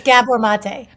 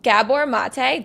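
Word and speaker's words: Gabor Maté: It's Gabbor Mate. Oh my gosh. Okay. I've been saying it wrong. Okay. So Gabbor Mate.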